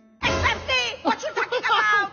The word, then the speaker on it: Pepsi: How will my Arab mom pronounce Pepsi? Bebsy. Pepsi. Bebsy. Pepsi. Yes, Bebsy. Mom, look at the can, look at the letters. It's Pepsi. Yes, it's Bebsy. Mom, with a P, not a B. It's Pepsi.